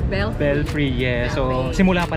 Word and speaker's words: Belfry: Belfry, yes.